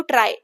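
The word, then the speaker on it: trie: देखो, ट्राई indexing जो इसको आप कैसे प्रोनाउंस करते हो, ट्राई, TRY जैसे आप प्रोनाउंस करते हो सेम वैसे.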